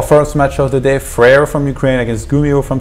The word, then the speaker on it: Fraer: at me wrong, and he was like, "You're saying wrong. It's Fraer." Oh, okay. You should say Fraer. Yeah, so I ended up. It's like French pronunciation.